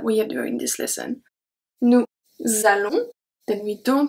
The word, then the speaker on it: allons: The S from nous is going to be transferred to allons and makes a Z sound.